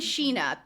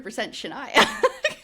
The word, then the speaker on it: Shania: In episode seven, they were saying Sheena and I was like, cuz that's weird the way it's spelled. Then this episode, I was like, oh, it's 100% Shaniah. Yep. Said it a bunch of times. end of my episode, Dakota says Shania.